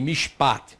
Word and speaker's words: mishpat: Agora, como ele não está sendo reduplicado, esse chevá ele é mudo. Então eu tenho a primeira sílaba aqui, a vogal ela é breve, o chevá é mudo e aqui inicia a nova sílaba.